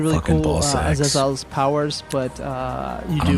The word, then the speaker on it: Azazel: to concentrate and use I say it like how she says it, Azazel.